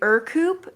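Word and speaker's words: Ercoupe: all these years uh i know you want to say air coupe but it's actually er coupe it's a proper pronunciation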